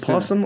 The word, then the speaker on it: opossum: Is it a possum or is it an opossum? We always say possum, but it's spelled opossum.